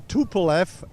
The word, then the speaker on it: Tupolev: That's a TupleF A3.